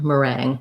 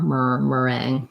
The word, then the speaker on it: meringue: like a somewhat different meringue meringue so myrrh um that mer it almost doesn't even have an er it's almost kind of like just going um almost right to the r meringue meringue okay thank you